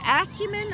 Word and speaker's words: Acumen: people were concerned about how to pronounce that Acumen or acumin well I say Acumen Acumen yeah that's what I say and I'm sticking to it now that vehicle right